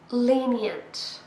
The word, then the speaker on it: lenient: Lenient. 3 syllables, and we stress the first one.